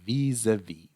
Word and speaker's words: vis-à-vis: involved in this mission, vis-a-vis, vis-a-vis. Pay attention to the pronunciation. It's a little tricky with a z sound.